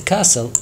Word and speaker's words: castle: The castle، طبعا التي ما يلفظ، ما تلفظ كاستل، لا.